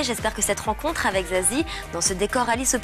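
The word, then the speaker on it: Za7ie: Alors Zazie, ce 7e album, alors déjà comment ça se prononce? Est-ce que c'est Zazati, Zazie 7? Il y a plusieurs versions. Ça se prononce pas, ça s'écoute, j'ai envie de dire, mais c'est Zazie.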